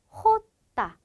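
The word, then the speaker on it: jota: 즉 스페인어에 있는 모든 지읒 발음은 히읗 소리로 대체가 된다라고 보시면 되는데요. 그래서 얘는요 명칭이 어떻게 되냐? 호따 이렇게 됩니다. 즉 스페인어로는 호따 이렇게 되는데요. 네, 얘도 마찬가지로 거친 히읗 소리로 발음을 내주셔야 합니다.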